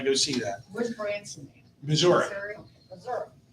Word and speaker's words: Missouri: Missouri. Missouri. Missouri. Pronounce it right.